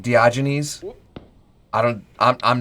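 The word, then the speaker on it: Diogenes: Dioenus or it's pronounced much more smoothly by the narrator like Dioynes.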